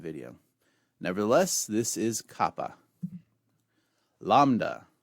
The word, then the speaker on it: lambda: nevertheless this is Kappa lambda lambda makes an L sound as in the word lamb however you pronounce your